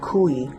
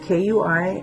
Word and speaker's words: kui: And today we're going to teach you a style of Hawaiian lei making, which is called kui, and that's spelled K-U-I, and what kui means is to pierce.